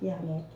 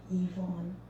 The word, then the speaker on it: Yvonne: My name is pronounced Yvonne, not Yannick. Yvonne.